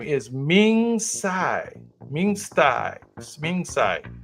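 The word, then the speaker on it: Tsai: This gentleman's name is Ming Sai.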